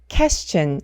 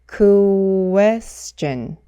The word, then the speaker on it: question: 그래서 이 단어를 question 이렇게 발음하면 안 되고 question, question, question 이렇게 QUE를 구해, 구해 이렇게 발음해 주셔야 돼요.